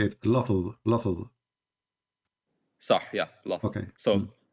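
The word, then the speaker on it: لفظ: Lafz.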